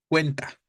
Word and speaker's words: cuenta: Sin ningún pronombre sería cuenta, ¿no? La sílaba tónica, de manera concreta, para este caso sería entonces la penúltima, ¿no? Cuen. En cuenta, la sílaba tónica sería cuen, la penúltima.